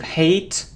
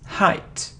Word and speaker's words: height: isn't delete its delete it delete it isn't hate hate or eight its height height it isn't towards its the words the